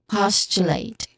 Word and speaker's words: postulate: Pronunciation wise, postulate. You begin here with pause, like possibility or positive. So pause. And then next is chew, which is a quick mix of T and Y sounds, like chewon, church.